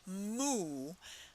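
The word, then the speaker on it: mu: to write that cursive letter Lambda next follows moo uh again moo very common letter and um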